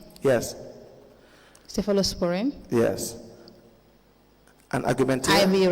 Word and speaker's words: cephalosporin: Cephalosporin?